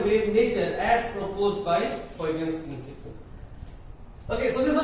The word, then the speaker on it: Huygens: This Uy in Dutch is pronounced as oil, okay, and hence the full name Huygens principle, okay, Huygens principle, okay, and the scientist name is Huygens, Christian Huygens, it's his full name, a Dutchman, okay.